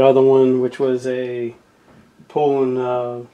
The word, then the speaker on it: Poulan: me for it because I always called them Poland so that's what I always heard growing up but apparently it's called like pulling but uh so whatever